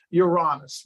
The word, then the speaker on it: Uranus: that's how we got the god of Uranus, really, is the way it's pronounced.